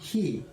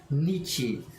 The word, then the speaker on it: 日: It could be pronounced hi, nichi, bi.